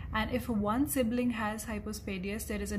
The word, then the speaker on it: hypospadias: hypospadias formation now remember it is called hypospadias and not hypospadiesis as it is commonly mispronounced so this was about